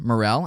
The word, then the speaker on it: Morell: And today we have with us Morell. Am I pronouncing that correctly? Is it Morell?